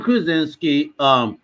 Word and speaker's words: Krasinski: I actually liked John Krasinski or however you pronounce his name. yeah, it's John Krasinski.